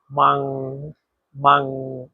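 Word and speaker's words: 忙: হচ্ছে ব্যস্ত এখানে দেখেন এই শব্দটাতে চাইনিজের দুই নাম্বার টোন ব্যবহার করা হয়েছে আর দুই নাম্বার টন উচ্চারণ নিয়ম হচ্ছে নিজ থেকে উপরে মাং মাং আপনিও আমার সাথে উচ্চারণ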